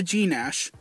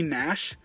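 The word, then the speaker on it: Gnash: but anyway back to G Nash his name isn't actually G Nash it's actually Nash the g is silent so he has a g in front of his name but it's actually silent instead of G Nash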